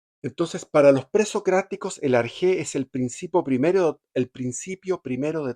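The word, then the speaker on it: ἀρχή: Ellos buscaban el arjé, es una palabra griega, arjé. El arjé, también escrito como arjé, con A-R-K-H-E, acento en la E, obvio, es un término griego que significa el principio, el origen, el comienzo.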